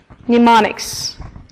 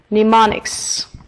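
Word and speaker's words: mnemonics: we have the word pneumonics pneumonics pneumonics yeah have you noticed something strange the first letter which is M of course is a silent letter you don't say it you don't pronounce it pneumonics pneumonics so it's something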